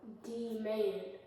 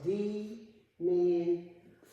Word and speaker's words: demand: Yes, it went from D-man or D-man to what? Demand.